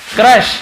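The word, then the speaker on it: crush: क्रश, यहाँ यू को आ पढ़े, क्रश यानी होता है कुचलना, किसी को क्रश कर देना।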